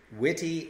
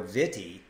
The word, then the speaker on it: wiki: which is actually pronounced witty or Vitti because in Hawaiian the k letter has the T pronunciation so here we are